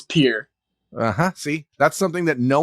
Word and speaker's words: Pierre: you're in you're in is it is it pronounced peer or Pierre it's peer see that's something that no one would know if without this podcast everyone from around the country has thought it's Pierre for the our entire lives so you're up